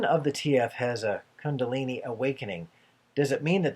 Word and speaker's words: Kundalini: Rob have a spontaneous coup daleney activation Kundalini Kundalini ah I missed it I missed a consonant Shh and is there